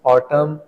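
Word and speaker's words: autumn: एंड the last one इज ऑटम, इसमें N silent है।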